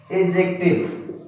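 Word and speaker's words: adjective: Third है एडजेक्टिव। इसमें जो है डी लगा है, डी का जो है प्रोनाउंसिएशन यानी कि उच्चारण नहीं होता है, इसको हम पढ़ेंगे एडजेक्टिव।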